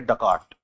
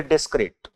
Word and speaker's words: Descartes: Then comes another person, another philosopher in the classical period itself, whose name was, see, लिखते ऐसे लेकिन इनको pronounce करेंगे डकार्ट. डकार्ट, ठीक है? लिखेंगे डेस्क्रेट, पढ़ेंगे डकार्ट.